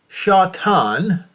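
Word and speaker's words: שָׂטָן: serpent called the devil and shatan is the correct way to say it which deceives the whole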